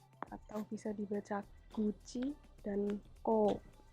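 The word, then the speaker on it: 口: Lalu ada kanji kuchi atau bisa dibaca guci dan ko. Ko-nya panjang ya, ko.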